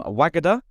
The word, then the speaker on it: Wagada: on the podcast today we've got Cheryl from wagada I've said it right this time haven't I